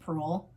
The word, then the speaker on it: Proulx: I feel like her last name is just Proulx and the X is silent, but if I'm wrong, please correct me.